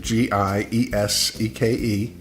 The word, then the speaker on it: Gieseke: That's how you pronounce it, Gieseke.